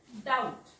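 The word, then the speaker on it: doubt: बघा टी च्या पूर्वी टी च्या पूर्वी जर बी आला असेल टी च्या अगोदर बघा इथं शेवटी टी आहे अगोदर बी आहे इथे पण शेवटी टी आधी बी तर टी च्या आधी बी आला तरी तो वाचायचा नाही त्यामुळे हा उच्चार होतो डा उठ डाऊट कारण टी च्या आधीचा बी सायलेंट असतो देन हा पण बघा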